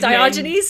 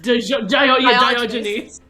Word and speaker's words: Diogenes: How do you say his Diogenes? name? Diogenes.